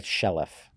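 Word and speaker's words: Chaleff: the courageous follower by a guy named IRA shelff and I think I'm mispronouncing his his last name ch a l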